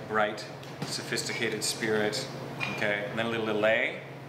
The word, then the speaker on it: Lillet: sophisticated Spirit okay then little lay so it's not L it's not Lillet oh man crazy I've